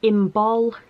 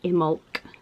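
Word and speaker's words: Imbolc: So this is the word here, and some people say imbol and some people say imulk.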